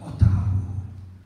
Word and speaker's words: Otahuhu: Otahuhu. And they all burst out laughing. So I said, well, that's a Maori name, and that's how you pronounce it, Otahuhu.